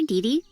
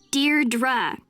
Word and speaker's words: Deirdre: Hi, Dee Dee. Deirdre. I know it's got that tricky second syllable, but I figured it out by age 2.